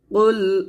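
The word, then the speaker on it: قل: এখানে দেখুন কুল অর্থ হচ্ছে বলো, তো আমরা যদি এখানে কফ লাম পেশ কুল এটা না বলে কাফ লাম পেশ কুলের মতো উচ্চারণ করি, তাহলে এই যে কুল অর্থ যে বলো, এই বলো অর্থটা কিন্তু চেঞ্জ হয়ে যাবে।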